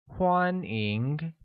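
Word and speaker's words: 欢迎: we will start with welcome welcome translates to Guan Eng which is pronounced with the first tone on a and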